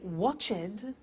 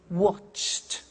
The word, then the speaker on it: watched: Now, when we add the ed, what happens is the pronunciation becomes T. We don't say watched, we eliminate the E and we say watched. Okay? Interesting, hey? So, look at that. Watched, danced, eliminate the E, pronounce the T.